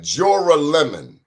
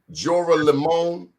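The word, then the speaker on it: Joralemon: name of that street i want you to pronounce like jorah lemon jorah limon that's what brooklyn barrel hall is 209 j-o-r-a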